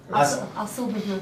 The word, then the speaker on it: Asal Bubu: Asal Bubu. Asal Bubu. Okay, oh, it's spelled exactly as it sounds.